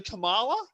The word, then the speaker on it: Kamala: I think it's actually Kamala. Yeah, I Kamala. think that's how it's pronounced.